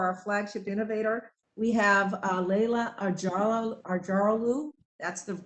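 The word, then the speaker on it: Leyla Acaroglu: yeah, and I just want to make sure too that you're aware, next week for our flagship innovator, we have Leila Arjaralu. That's the correct pronunciation of her name.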